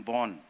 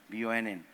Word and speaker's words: Bonn: If you just keep the spelling same, but pronounce it the way we do it, it becomes Bonn, which means forest.